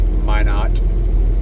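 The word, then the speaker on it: Minot: It's May not uh uh I learned that. Um pronounce it m y n o t may not.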